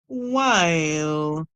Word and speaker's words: while: WH is making the W sound here. W. I, Y, L. While, while. Remember, the E is silent, so we cannot make the no sound for the E. And with the WH, the H is silent, the W is making the sound. So we hear W, I'll, while.